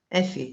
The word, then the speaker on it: Effie: Effie, am I saying it right? Effie, yes.